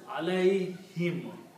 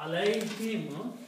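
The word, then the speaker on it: عليهم: Now in the tajweed, in the recitation, when we combine these, we do not pronounce this dhamma here, but we pronounce it kasra. So it is pronounced as alayhim.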